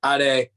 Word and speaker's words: Andre: So it's Ade, so me, it'd be Ade. And that's how you pronounce Andre, low key, for us going on.